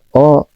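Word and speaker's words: を: Nah, ini meskipun hurufnya W tapi dibacanya O aja ya, Teman-teman biar cepat.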